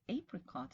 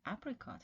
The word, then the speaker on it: apricot: It is apricot in British English, but apricot in American English.